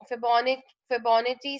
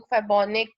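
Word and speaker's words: Fibonacci: अच्छा, इसको कोई कोई लोग फेबोनिक, कोई कोई फेबोनिका है, डिफरेंट प्रोनाउंसिएशंस होती हैं इस सीरीज की, लेकिन इसकी जो इन एक्चुअल प्रोनाउंसिएशन है वो फेबोनाची सीरीज है, ठीक है।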